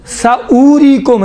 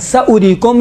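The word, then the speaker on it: سَأُورِيكُمْ: اولی، اولائی، اولاتی، اولائی، ساوریکم، دیکھیں ساوریکم ہے لیکن یہ واو نہیں پڑھا جاتا ہے، ساوریکم ہے۔ اس کے بعد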